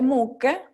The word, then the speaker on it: mucche: Delle mucche, ¿sí? Y vemos la H para mantener el sonido duro, ¿sí?